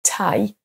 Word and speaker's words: tie: Là, c'est ce qu'on appelle un son diphtongue, donc on a 2 sons voyelles l'un après l'autre, donc tie, time.